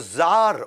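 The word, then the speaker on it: czar: Russia के अंदर उनको जार बोला जाता है वैसे सी जार होता है लेकिन सी साइलेंट होता है ये इंडियन आईटी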